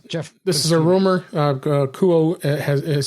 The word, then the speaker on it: Kuo: And according to reputable analyst Ming-Chu Kuo, I think that's how you say it. Kuo, that's it.